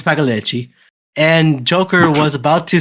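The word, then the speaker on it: Pagliacci: Yeah, it's Paleichi.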